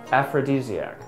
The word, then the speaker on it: aphrodisiac: This word is pronounced as aphrodisiac.